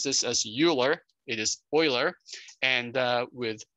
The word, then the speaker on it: Euler: This is an irrational number, and in honor of Euler's name, which is spelled E-U-L-E-R, we don't pronounce this as Euler, it is Euler, and with his name starting